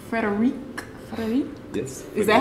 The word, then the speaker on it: Frédéric: I'm like, Frederic? Yes. Is that how you pronounce it?